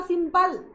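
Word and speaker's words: simple: ध्यान दो, हमने बोला सिंपल, सिंपल पढ़ो बाबू, तो सिंपल एल पे रुक जा रहे हैं, ई को बोले, यानी ई क्या है, साइलेंट है।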